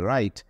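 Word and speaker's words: write: ঠিক একই রকম ভাবে রাইট ডাব্লিউ আছে ডব্লিউ কিন্তু উচ্চারিত হচ্ছে না সো এই ধরনের ওয়ার্ডগুলো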